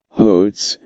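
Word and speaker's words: Golz: How do you say Goals in Spanish, Comrade General? Hotes, said Goals grinning, making the sound deep in his throat as though hawking with a bad cold.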